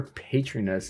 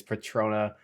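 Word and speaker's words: Patronus: Okay, I found out that I just kept saying it wrong, so please don't hate me. It's Patrona, but for the sake of this video, I'm going to keep saying it wrong.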